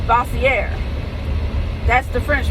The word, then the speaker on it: Bossier: And a lot of people mispronounce Bossier because it's Bossier. And if you pronounce it the French spelling, it's Bossier.